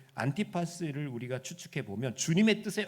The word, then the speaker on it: 안티파스: 다른 책들을 이렇게 참조해 보면 이 안디바라는 이름을 헬라어 그대로 이렇게 그 발음하면요, 안티파스예요. 안티파스.